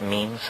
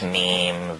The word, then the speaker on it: meme: means you know what memes are memes are the smallest units of a concept and they're like genes the word is deliberately constructed to rhyme with Gene and so when I